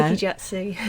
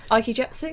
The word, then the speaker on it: Aikijutsu: or jutsu, or you're going to have to pronounce it for me now. Aikijutsu. Whatty? Aikijutsu.